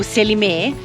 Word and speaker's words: Selime: Siamo arrivati al paese di Selime, o Selimé, come abbiamo sentito pronunciarlo qui dai Sì, locali. I locali Selimé. Selimé dicono.